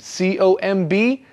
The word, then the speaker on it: comb: Remember, the comb has no B sound at the end. C-O-M-B, but you don't say the B, just comb. Yes, it's one of those interesting words in English with a letter that we don't actually say, but you must write that B.